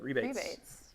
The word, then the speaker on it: rebate: push whenever a bad if we were in europe we would say rebates that's how they say it rebates oh instead of rabbits they say rebates really so rabbits with